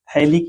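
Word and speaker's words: phthalic: Benzene 1,2 di carboxylic acid को थैलिक acid कहा जाता है। PH THALIC, यहाँ पे PH साइलेंट है।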